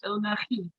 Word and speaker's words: Bill Nighy: Bill Nighy, he's of the shoes. Bill Nighy, I believe is the proper. Oh, pronunciation. okay. Yeah, you have to say it. You have to sneeze in the middle.